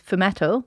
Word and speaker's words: fumetto: I think it's pronounced fumetto. Right. F U M E T T O.